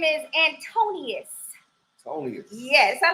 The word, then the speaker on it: Antonius: Antonius. Yes, I like saying that. Antonius. Yes. Antonius and his other trainer that's here. Syllables. I did what? Not all the syllables. Antonius. I know, right? Antonius Grable.